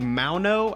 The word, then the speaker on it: Maono: We're going to be taking a look at the Maono. I think that's how you pronounce it. It's spelled like M-A-O-N-O. So I'm thinking like a Lamau, so I'm thinking like Maono.